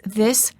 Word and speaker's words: this: The word this is singular and is pronounced with the short I sound and a s. The word these is plural and is pronounced with a long vowel E and a z sound.